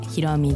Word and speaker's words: 洸美: 台湾系 J-POP シンガーソングライターのひろみです。